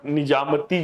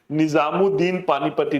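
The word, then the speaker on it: निज़ामुद्दीन पानीपती: किसके राज्यकाल में योग वशिष्ठ का जो है निजामती जो है पानीपती, ये गलत मत वो है, निजामुद्दीन पानीपती, this is the correct वो प्रोनाउंसिएशन है, उनके द्वारा फारसी में अनुवाद किया गया था।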